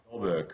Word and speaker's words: Jorberg: Is it Jorberg? Jorberg. Jorberg is correct.